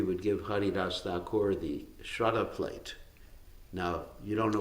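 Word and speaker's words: श्राद्ध: his relatives, there's this ceremony called Shraddha. In Hindi they call it Shrad, for short, because they don't pronounce the A.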